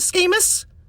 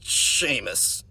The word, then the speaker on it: Seamus: Schemus?" "It's pronounced Seamus," he gurgled.